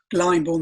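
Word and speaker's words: Glyndebourne: look it up g-l-y-n-d-e-b-o-u-r-n-e later not now blind born the d is silent and um i was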